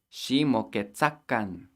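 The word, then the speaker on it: xi moquetzacan: She moquetza, and then we need that kan at the end, which makes the command plural. She moquetzakan.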